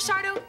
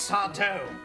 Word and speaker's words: Sardo: you are you mr sardo that's sado no mister accent on the dough so what are you